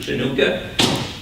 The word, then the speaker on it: Hanukkah: this year this year Hanukkah or you might pronounce it chanuka comes on Thanksgiving it's